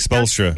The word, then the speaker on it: Spoelstra: Eric Spoelstra.